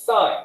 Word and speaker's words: sine: know right that's why people say sin it's not sin it's sine right cos it's not